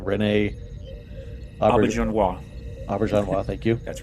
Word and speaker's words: Auberjonois: Renee, help me out with the pronunciation. Renee Auberjonois. Auberjonois, thank you.